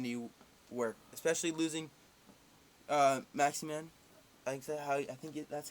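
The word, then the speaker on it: Maximin: Offensive-wise, I think they're going to need work, especially losing Maximan. That's how you pronounce it.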